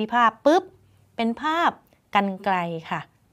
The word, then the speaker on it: กรรไกร: ภาพ ปึ๊บ เป็น ภาพ กรรไกร ค่ะ เป็น ภาพ กรรไกร จะ เห็น ว่า รร หัน ไม่ มี ตัว สะกด เนาะ ดู ซิ ว่า